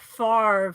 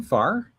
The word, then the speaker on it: Favre: I would say Brett Favre for 1996. Yes. Ooh. Is that how you pronounce his last name? Favre?